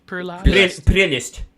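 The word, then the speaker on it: prelest: Am I pronouncing right? Prelast. Prelist. Yeah, prelist. Yeah. Yeah, the Russian accent over here.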